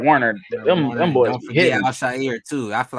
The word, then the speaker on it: Al-Shaair: Al-Shaair, yeah.